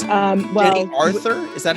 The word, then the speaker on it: Aurthur: And it's Jenny Aurthur? Is that how you say it? Yep, it's my grandfather, my great-grandfather stuck in a U just to fucking ruin my life.